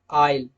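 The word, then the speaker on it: isle: example आइलैंड आइल आइल दोस्तों ए आई एस एल ई ये वाला और आई एस एल ई ये वाला इन दोनों का प्रोनंसिएशन सेम है आइल आइल ओके क्योंकि एल से पहले एस आ रहा है तो इस वजह से एस को साइलेंट रखा जाएगा रूल के मुताबिक ओके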